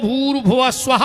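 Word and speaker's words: भूर्भुवः स्वः: के बताओ अपन बोला भूस्वाद इसमें एक शब्द कम पड़ रहा गायत्री का सही उच्चारण है ओम भूर भुव स्वाहा ओम पर ओम कोई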